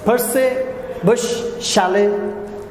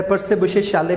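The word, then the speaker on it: Percy Bysshe Shelley: यह है Ohm's Ohm's पसे बुश शाले इसको दोनों तरह से प्रोनाउंस किया जाता है पसे बुश शाले भी कहते हैं पसे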